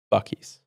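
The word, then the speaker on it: Buc-ee's: Bies. Yes, the correct pronunciation, too.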